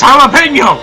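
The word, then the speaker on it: jalapeño: Redal jalo jalapeno jalapeno jalapeno it's jalapeno pronounce it right damn it turns out Goliath was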